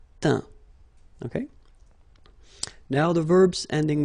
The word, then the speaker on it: teint: Okay, as usual, final T not pronounced. Atteint, éteint, feint, peint, teint.